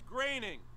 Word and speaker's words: Groening: Groening. It's graining.